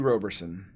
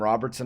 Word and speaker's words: Roberson: i guarantee it matthew roberson this man probably hates my soul on how many times that i mispronounced his name called him robertson a lot robust son leaving the r out but matthew roberson dude